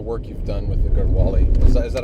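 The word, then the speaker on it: Garhwali: some of the work you've done with the garwali is that is that how you pronounce it yeah garwali all right so um basically on the 21st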